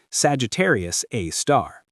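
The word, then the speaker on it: Sagittarius A*: They call it Sagittarius A star, pronounced Sagittarius A star.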